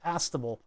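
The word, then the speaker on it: astable: speaker to get the desired tiny sound it's pronounced aable oh it's an aable multivibrator yeah okay R3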